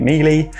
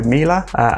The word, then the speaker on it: Miele: Last time I reviewed a Miele product, I called it Miele, but a lot of people said it sounds like Sheila, so Miele.